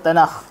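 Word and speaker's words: תנ״ך: hujung seali Kaf Kaf cuma Kaf di hujung Ibrani sebut kha dia asalnya Tanak lah tapi disebabkan dia di hujung orang bahasa hebreu sebut Tanak jadiitu kan sebut Tanak tapi ejaan asalnya Kaf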